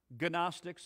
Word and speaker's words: gnostics: week called the gnostics the gnostic gnostics only silent g the gnostics did not